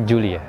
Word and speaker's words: Giulia: Tulisannya itu Giulia. Bacanya Giulia. Sebelumnya lagi, itu Giulietta.